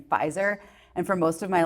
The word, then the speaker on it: Pfizer: pronounced my last name the p is silent like in Pfizer and for most of